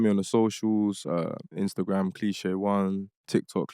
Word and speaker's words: Cleeshay: And plug in find me on the socials, Instagram Cliche1, TikTok Cliche1. But it's spelled, it's not. So so it's spelled not like the dictionary way. Cliche, CLEESHAY, and just one, literally Cliche1.